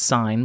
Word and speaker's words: sin: like the word sin remember it's pronounced sine but it looks like sin so it is a